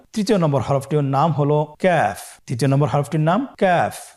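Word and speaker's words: ك: নম্বর হরফটির নাম হলো কাফ তৃতীয় নম্বর হরফটির নাম কাফ কাফ উচ্চারণের ক্ষেত্রে অবশ্যই পাতলা করে উচ্চারণ করতে হবে এবং তিন আলিফ টেনে পড়তে হবে।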